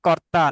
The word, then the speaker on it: কর্তা: ঈশ্বরহা সৃষ্টি, সৃষ্টি, সৃষ্টির পরে কর্তা না, কর্তা, কর্তা, কর্তা। কর্তা কর্তা রেফ, রেফটাকে ভাইব্রেশন হবে, রেফ, কর, কর্তা।